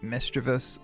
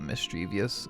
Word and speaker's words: Misdreavus: not my personal taste Misdreavus or Misdreavius or however you want to pronounce it i really love this